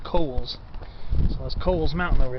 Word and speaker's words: Cowles Mountain: A lot of people pronounce it Cowles, but it's, from what I heard, it's supposed to be pronounced Cowles.